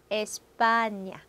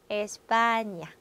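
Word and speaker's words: España: 니뇨, 니뇨, 에스파냐, 에스파냐. 그래서 얘는 아이유를 만났을 때 냐냐 니뇨뇨 가 되는 발음이죠.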